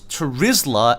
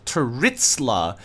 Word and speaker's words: Turizla: Why do you always pronounce Turizla as Turitzla? You know, not all Z's are pronounced as T's, right?